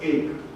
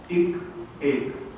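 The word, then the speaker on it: एक: added the numeral 1, which is several Indian languages is pronounced as ek, ek, 1.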